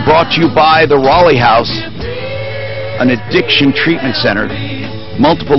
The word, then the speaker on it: Raleigh House: to you by the Rolly house an addiction treatment center multiple locations in the Denver area it's spelled like Raleigh North Carolina if you're looking for